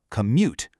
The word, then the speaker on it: commute: Take the word commute. The stress is right on the second syllable. Commute.